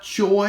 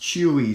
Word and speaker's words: Chuy: his name is not joy it looks like joy but it's actually one of the tricky words it is pronounced chewy so don't say choy that's what I used